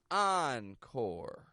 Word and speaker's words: encore: to the audience to say thank you oncore and then one final onword is the words